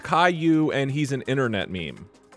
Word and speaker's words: Caillou: do you know what kalu is you don't know any media at all how would you know this one random child character it's not random what it's pronounced Caillou and he's an internet